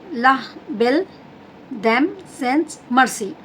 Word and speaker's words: La Belle Dame Sans Merci: In French language it has given the name of the poem La Belle Dame Sans Merci. Like that you have to pronounce it.